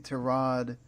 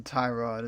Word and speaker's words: Tyrod: of obviously you know Tyra Tyrod excuse me to Rod Taylor apparently he doesn't have a problem with you calling him tie-rod it's just that apparently has a official pronunciation